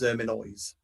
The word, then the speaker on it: Erminois: But no, it is Erminoise. Erminoise. See, with the Z on the end there.